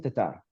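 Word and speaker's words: Tattar: Give me Tatter baby. Yeah, I figured. I'm just kidding. Let me say her name correctly. Christine Tatar.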